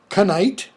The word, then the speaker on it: knight: They become nothing, as in the case of night or knight. Okay. N-I-G-H-T just becomes pronounced N-I-T, night.